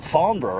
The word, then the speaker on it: Farnborough: Yeah, no, it is, you pronounce it very well, man. I mean, you know, congratulations on that one. Farnborough, eh?